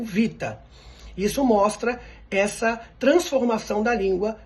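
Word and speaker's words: βήτα: do tempo como V então o Beta que era do grego antigo para nós é o Vita isso mostra essa transformação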